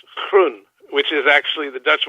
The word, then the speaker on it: Groen: 8.1 FM taking care of business with grown now grown is a Dutch name right I mean how do you pronounce it in Dutch in Dutch is pronounced croon which is actually the Dutch word for green